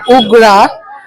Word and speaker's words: UGRAAA: তোমরা যদি নামটা দেখো উগ্রা মানে ইংলিশে যখন আমরা প্রোনাউন্স করছি উগ্রা ইউজি আর ট্রিপল এবার ট্রিপল এ না রেখে আমি জাস্ট এও রাখতে পারতাম বাট ট্রিপল এ রাখার